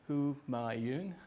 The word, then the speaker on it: Humayun: The way you pronounce my name is Humayun. It's quite easy to follow.